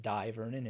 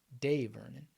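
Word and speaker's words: Dai Vernon: the professor and some people say that it's pronounced die Vernon and most people use Die Vernon but apparently it's supposed to be de Vernon so this is previous knowledge that I can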